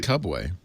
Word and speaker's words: Cubway: I assume it's Cubway, but spelled Cubway. It's spelled Cubway, like Subway with a C.